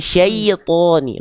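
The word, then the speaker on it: شَيْطَان: Nah, jadi i-nya jelaskan dulu ya sukun ee sebelumnya fathah kan syai. Jelaskan dulu syai baru thoni. Heeh. Jadi jangan ke bawah thonya. Jadi kadang-kadang kita suka bacanya syait th syanya-nya belum tuntas sudah siap-siap th shi enggak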